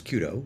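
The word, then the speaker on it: 弓道: don't know is uh otherwise known as Kudo which is how you say it in Japanese and the idea like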